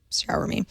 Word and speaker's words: Xiaomi: me he also has a really great little phonetic way for all of us who are not exactly sure how to pronounce it shower me he says he wants